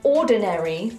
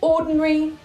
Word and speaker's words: ordinary: In RP, we do not say ordinary, military, and momentary. We say ordinary, military, and momentary. The ARY becomes a simple RE.